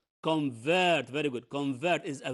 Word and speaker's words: convert: who can read this word with me it's convert very good convert is a verb okay because